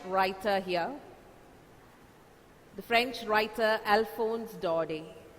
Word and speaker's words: Alphonse Daudet: here the French writer Alphonse Daudet the last sound is not pronounced he's planning the name is I mean you have to pronounce this word as Alphonse Daudet he's the French novelist